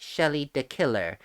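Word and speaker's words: Shelly de Killer: all this red on i assume this is shelley de quellar and yes i know he is technically pronounced shelly the killer but i like to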